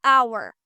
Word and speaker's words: hour: For example, an apple, an idea, an hour. The H is silent here.